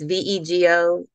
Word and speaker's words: Veo: of Houston called Veo it's Veo it rhymes with Lego although we say Lego but um Birdie's beds